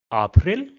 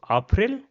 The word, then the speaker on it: April: After that we have April which is April. So the spelling is the same. The pronunciation is a little bit different. So, April.